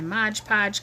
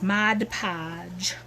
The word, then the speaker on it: Mod Podge: to cover up my Modge Podge because the stuff can get kind of smelly see and I still pronounce it wrong even though I know how to say it it's Mod Podge anyhoo well I hope